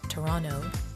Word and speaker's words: Toronto: Whether you're visiting Niagara Falls or exploring Toronto, or as locals call it, Toronto, we don't pronounce the second T, or trying local food, Ontario has something for everyone.